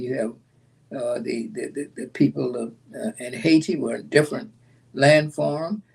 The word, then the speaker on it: Haiti: When Jacques Dessalines came to power, he said, you're going to spell it, we're going to pronounce it the way the indigenous people, the Plainate people, Haiti, Haiti, Haiti.